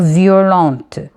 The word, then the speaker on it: violente: Il ne se prononce pas le T, mais au féminin, il va se prononcer. On va dire violente.